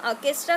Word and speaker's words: orchestra: ये ऑर्केस्ट्रा है, इसका प्रोनाउंसिएशन हम ऑर्केस्ट्रा करते हैं.